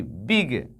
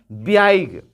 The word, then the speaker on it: big: BIG, बिग, हम क्या पढ़ते हैं, बिग, बिग मीन्स बड़ा, BIG। उच्चारण के आधार पर कहिएगा तो कहिएगा ब्याइग, ब्याइज, ब्याइग, जो कि गलत है, इसको पढ़ेंगे बिग।